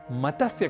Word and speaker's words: मत्स्य: अक्सर हम इस शब्द का गलत उच्चारण कर बैठते हैं और कहते हैं मतस्य, मतस्य, पालन, इस तरीके से कुछ हम शब्द करते हैं।